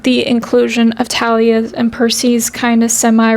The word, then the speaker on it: Thalia: And I really like Talia and Percy together. I know on the show they pronounce it Thalia, but I've been saying Talia my whole life because I literally knew